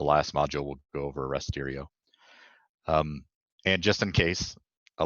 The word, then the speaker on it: Rasterio: Rasterio, which I've been told it's pronounced, is another good GDAL plugin for Python,